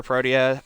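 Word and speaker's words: Protea: complete some pieces for proteia prime already. I want to complete her too or prot if you pronounce it like that. the objectively incorrect way because I've got her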